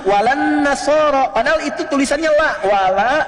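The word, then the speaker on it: وَلَا النَّصَارَىٰ: Cuman kita bacanya pakai e kan alif lamnya syamsiyah tuh ya. Lamnya masuk ke nun. Walan nasara.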